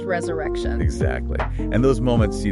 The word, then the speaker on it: resurre XXXtion: And pronounced resurrection.